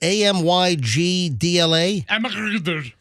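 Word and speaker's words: amygdala: How do you pronounce it? AMYGDLA?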